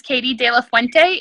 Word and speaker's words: Kayte De La Fuente: you guys are welcome to my name is katie de la fuente it's k-a-y i spell everything funny so i'll just spell it for you guys so you can find